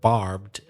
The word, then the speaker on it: barbed: As I mentioned before we heard the story, the word barbed, be careful about not pronouncing the E.